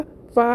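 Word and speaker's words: ف: हिस्सा , यानी जहां आपके दांत स्पर्श करते हैं, तब आपका 'फा' उच्चारित होता है।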